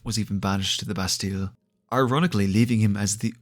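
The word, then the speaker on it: Bastille: taken to the Lost bastile which I'm pretty sure is supposed to be pronounced basti but we're not here to discuss proper French pronunciation the undead were gathered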